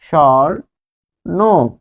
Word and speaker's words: স্বর্ণ: যদি বসে, তাহলে স্বর্ণ, তার মানে যখন বফলা বসবে দন্ত স এর সাথে, তখন সেটি তালব্য স উচ্চারণ হবে স্বর। যেহেতু এই যে দেখুন এখানে রেফ আছে, রেফ থাকলে অর হয়, স্বর নো, স্বর নো।